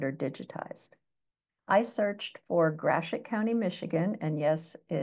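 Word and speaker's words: Gratiot: plat mats that are digitized I searched for gret County Michigan and yes g t IO T is pronounced gret um which is the county where I was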